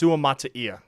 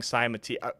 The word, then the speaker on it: Suamataia: I keep pronouncing his name wrong. It's Suamataia. It's Suamataia, but I keep saying Saimatia. It's a hard name to pronounce. It's a hard name to pronounce, but it's Suamataia. That is the correct pronunciation.